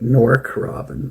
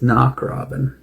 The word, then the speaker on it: Knock Robin: It looks like Norcro Robin, but it's not. It's knock Robin. It's N O C K.